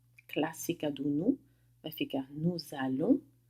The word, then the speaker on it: nous allons: Chegando na primeira do plural com nous, eu vou fazer o que a gente chama de liaison. Eu vou pronunciar o S no final do nous como se fosse um Z. Nous allons, nós vamos.